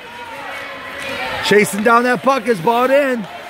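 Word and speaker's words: Beaudoin: Chasing down that puck is bought in. B-E-A-U-D-O-I-N, bought in, I think. Bought in. I believe that's how you pronounce that name.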